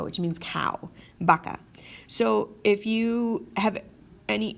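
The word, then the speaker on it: vaca: to be okay but oftentimes it's pronounced more like a bee especially when it's at the start of a word like the word baka baka which means cow baka so if you have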